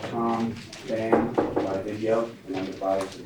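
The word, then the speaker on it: Phang: First name is P-H-A-N-G. It's pronounced Van, P-H-A-N, Van, right.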